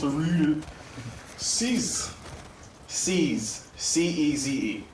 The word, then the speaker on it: Ceze: C-E-Z-E. It's not CZ, but it's Ceze. Like seizing something.